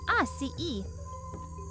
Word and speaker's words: açaí: first up let's talk about the atai berry pronounced AI e this little fruit looks like a cross between